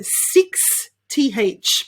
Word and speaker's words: sixth: twister we have got the word sixth so six th basically okay so we've got sixth and the way to pronounce this is sick sick see how hard